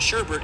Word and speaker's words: sherbet: And sherbet isn't pronounced with the extra R like I just said but rather sure bit.